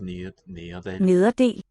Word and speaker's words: nederdel: Oh, skirt is nederdel. Nederdel. Nede. So this single D between the vowels is really weakened. We just a gesture toward a D.